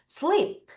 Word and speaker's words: sleep: 그런데 얘들아 슬리프라고 발음하면 안 되죠. 피 발음은 퍼 퍼음이기 때문에 약간 바람소리를 이제 먹으면서 살짝 작게 놔도 돼요. 다시 발음할게요. Everyone ref after me. Sleep.